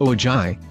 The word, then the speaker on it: Ojai: and glamour of Hollywood oh joy pronounced Ojai is bursting with stunning